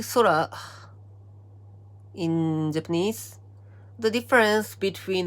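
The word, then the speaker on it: 空: This kanji is pronounced sora in Japanese.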